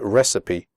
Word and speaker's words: recipe: you pronounce the word recipe correctly the ending cipe is pronounced citty recipe okay so let's get